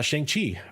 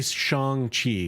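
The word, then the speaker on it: Shang-Chi: right so i think i'm gonna say shang chi because i believe that's how it's actually supposed to be pronounced um but you know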